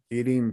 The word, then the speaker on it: eating: The T sounds like a D.